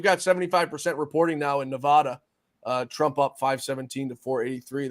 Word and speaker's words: Nevada: Was his Nevada? Nevada. Nevada. Oh, I have a guy who comments all the time. It tells me I'm saying it wrong. It's Nevada.